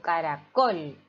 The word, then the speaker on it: caracol: las sílabas veamos acá caracol cual es la sílaba tónica de caracol yo digo caracol es decir col pájaro fíjense ahí que